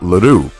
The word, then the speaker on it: Ledoux: The Easton Assassin welcomes the challenge of Scott Ledoux. Did you hear that? I got the pronunciation right this time.